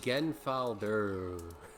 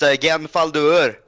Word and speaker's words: Genfaldur: Is, Yeah, it's actually pronounced Genfaldur. Gesundheit. I'm sorry. Did you just like add more emphasis to the "der" part of it?